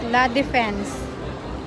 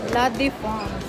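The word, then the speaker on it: La Défense: Sa English po is La Defense. Pero ang pronunciation po sa France is La Defense, diba? Ako daw si Miss Pink.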